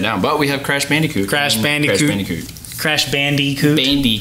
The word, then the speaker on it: Bandicoot: classic crash bandicoot so bnb that's how you pronounce it crash bandicoot bandicoot it's not banda coot how do you say it how do you